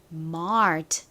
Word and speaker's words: mart: a를 써주시면 됩니다 그리고 한국식으로는 마트 이렇게 쓰지만 실제 미국식 발음은 Mart 이렇게 리을 받침이 들어간 소리가납니다 그래서 다음으로 와야 하는 알파벳은